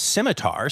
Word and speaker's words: scimitar: oric right okay so the first word is simitar so the first syllable is Sim so would it be